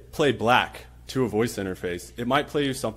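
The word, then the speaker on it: 6LACK: by this artist how do you think you pronounce this artists name I'll give you a hint it's not six lakh but what do you think a voice interface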